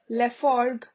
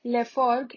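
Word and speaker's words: Laforgue: paul berlin arthur rimbaud arthur rimbaud then jules leforg jules leforg l-a-f-o-r-g-u-e then gustav khan gustav khan g-u-s-t-a-b-e k-a-h-n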